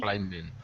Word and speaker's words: climbing: There's no B when you say it. It's spelled with the B, but we don't say the B. So it's rock climbing, but we take out the B and we say rock climbing.